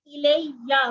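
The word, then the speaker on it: إِلَيَّ: ये जो जबर है इसको आपने प्रॉपर करके पढ़ना, इसके ऊपर तशदीद भी है, तो या को हमने प्रॉपर करना है, ठीक है। इसको अच्छे तरीके से प्रोनाउंस करना है कि इलैया मेरी तरफ, ठीक है।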